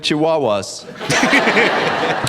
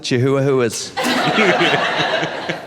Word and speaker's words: chihuahuas: Texans who afraid of chihuahuas or as my friends in Texas pronounce it chihuas yeah cuz that's a Spanish word and in Texas we